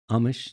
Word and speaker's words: Amish: in an amish community is that how it's pronounced amish yes amish yeah there's no h i was one of